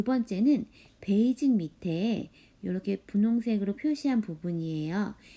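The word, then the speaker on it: 北京: 한자 도금은 북경. 발음으로는 베이징이라고 해요. 중국의 수도이죠. 베이징은 여러분도 잘 알고 있을 거예요.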